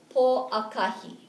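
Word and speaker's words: Pōʻakahi: So, po akahi, that's Monday, okay? One more time, po akahi, don't forget the okina, so the kahaku, when it's over the vowel, it's pronounced a little longer, okay?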